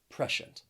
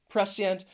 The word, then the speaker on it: prescient: Or this word does have some different pronunciations because some people may pronounce it with just 2 syllables and they say prescient. I typically say it with 3 syllables, prescient.